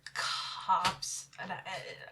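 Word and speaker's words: copse: cops said it okay it's not a corpse i can tell you that is it a cops is that how you say it cops cops it's cops i don't like it i like cokes better but technically i think it is actually cops i don't like cops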